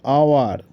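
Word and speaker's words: hour: reading for dash আওয়ার এখানে এইচ টা কিন্তু উচ্চারিত হবে না তো এখানে হবে উচ্চারণটা আওয়ার তো সেক্ষেত্রে হবে I have been রেডিং ফর অ্যান আওয়ার mister Khan is honest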